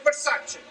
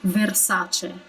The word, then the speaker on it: Versace: a bit too pronounced there is only one r in armani and one r in versace therefore we don't really roll it that much we don't say armani but simply armani it's like a touch of an of a rotated r if that makes sense and versace i just feel like he overdid it a bit you know slight criticism